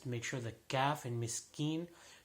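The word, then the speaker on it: مسكين: sure the gaff and miss keen should be pronounced like a calf and not like a cough so again while you're held by Laura Millie miss keen next verse fell while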